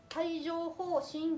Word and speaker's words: 帯状疱疹: でこれ、帯状疱疹って読みます。帯状じゃなくて帯状ですね。